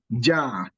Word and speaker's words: ja: Then we also have words like ja. Ja means is full. You pronounce it the same way you pronounce a jar in English.